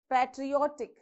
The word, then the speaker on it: patriotic: end of the word now patriotic where do you pronounce how many syllables we have pear tree or thick okay so from the end of the word second syllable so it is patriotic so you have to